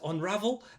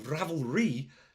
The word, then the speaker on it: Ravelry: that go find it unravel and oh sorry yes apparently I've been saying it wrong Ravelry sorry thank you fizz